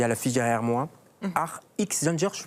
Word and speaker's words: Art X Gender: Art X Gender, je prononce bien? Oui, Art X Gender.